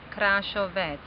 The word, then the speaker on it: Krašovec: Yeah, your grandfather's name was in Slovenian words France Krašovec.